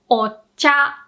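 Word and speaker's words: お茶: Whenever we add this o, the prefix, in front of a word, you always pronounce the o with a low pitch. So that means you start low and the second mora has to be pronounced with a high pitch. Remember, it has to be different. So low, high, and the rest can be different, right?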